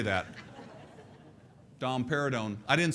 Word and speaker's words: domperidone: I didn't say that domperidone I didn't say that it rhymes with Dom pérignon which is a very very expensive champagne but domperidone probably the